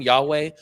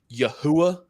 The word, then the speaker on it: Yahweh: Like the word name Yahweh, when they're going around and going Yahuwah, you're like, okay, bro, you don't know what you're doing here.